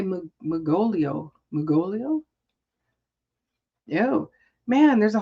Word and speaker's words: Mugolio: Mugolio. That's good. That's very good. Magolio? I don't know. Mugolio.